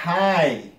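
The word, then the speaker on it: high: فایت لکه نایت نایت د جی ایچ نه تلفظ کېږي نایت یا های H I G H د جی ایچ نه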